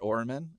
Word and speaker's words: Oermann: I really loved the interviews with Robert Oermann.